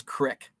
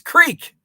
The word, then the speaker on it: creek: but i get annoyed when my mom says crick it's creek it's creek uh let's see most people call